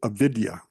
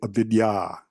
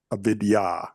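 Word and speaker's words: अविद्या: folks will pronounce it aidia it's actually avidya avidya once again the long a at the end and one of the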